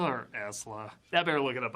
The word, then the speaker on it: Isla: is it Isla or Esla? I better look it up online and see how other people pronounce it.